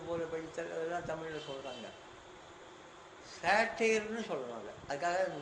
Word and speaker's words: satyr: சேட்டையர்னு சொல்கிறாங்க. அதுக்காக அந்த உச்சரிப்பில் என்ன பண்ணுவான், SATYR, நான் முன்னாடி சொன்னது எஸ்மணி ராமனுக்கும் பத்மநாபனும் கொண்ட அறிஞர்களுக்கு இந்த விஷயங்கள்லாம் ரொம்ப ஆர்வமாக இருக்கவங்களுக்காக நான் உங்களுக்கு மெனக்கட்டி சொல்கிறேன்.